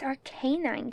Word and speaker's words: Arcanine: Arcanine on his own why do you say it like that it's Arcanine cuz it's a Canan Kane however that dog was pronounced canine canine it's a canine finally Ash is writing